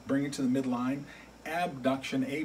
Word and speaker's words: abduction: and there are two terms that come up abduction and adduction they sound very similar so sometimes people will pronounce it with the letter A B duction or a deduction so what exactly does that